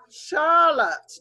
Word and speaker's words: Charlotte: of the same one because it's a French word so that just that sound at the end just makes a sound on its own so let's sound it out again Charlotte does anybody know somebody